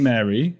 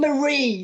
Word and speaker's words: Marie: Learned loads about Queen Mary, who was... Queen Marie, say her name right.